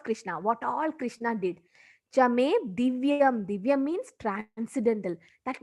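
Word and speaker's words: च: See, when it comes to Sanskrit, CA means cha, not ka. Okay, don't pronounce it as ka.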